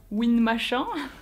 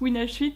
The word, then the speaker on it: WinH8: voilà mais oui aussi petite précision ça se prononce win shite voilà parce que déjà souvent quand on me parle on me dit win machin parce que les gens ont peur voilà il